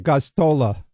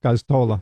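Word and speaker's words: Gosztola: I'm sorry, I can't pronounce his last name. It's a hard one. Goztola. Yeah, Goztola.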